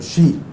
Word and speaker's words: Xi: of China um president shei it's um written XI Z but it's pronounced as she in Chinese um and it's been